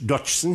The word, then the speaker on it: Dodgson: lewiis Caroll der mit bürgerlichen Namen Charles ladwit Dodson hieß merken Sie sich meine Aussprache verhrte zu sehr die meisten der vielen